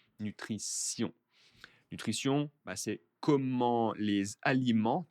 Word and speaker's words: nutrition: Allez, donc ici, le vocabulaire, que l'on parle de nutrition, la nutrition, attention à la prononciation, hein, T-I-O-N est un S, nutrition.